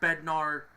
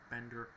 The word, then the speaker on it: Bednar: uh will Bender brother of David or will Bednar not Bender bednard David bnar is his brother Diego Vasquez